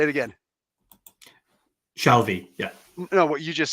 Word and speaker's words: Shalvey: Shalvey, am I pronouncing your name like I'm looking at your name? The spelling it's Shalvey, right? Yeah, nailed it. All Got it right, in one. cool. Say it again. Shalvey, yeah.